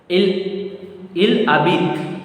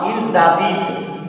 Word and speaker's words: il habite: Il zabit. Same rule, no, it's not Zabit. it's you have to keep in mind whenever first word is ending with silent consonant, the following word starting